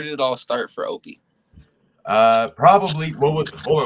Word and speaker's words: Opey: guys I got the one and only Uncle opay also known as a Netflix actor go ahead and introduce yourself well it's actually pronounced Opie but it's all good brother I am your